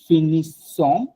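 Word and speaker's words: finis: এটা একটু মনে রাখবেন, ফ্রেঞ্চে লাস্ট অ্যালফাবেটটা কখনো উচ্চারণ হয় না, ও লাস্ট অ্যালফাবেটটা কখনো উচ্চারণ হয় না, ফিনি।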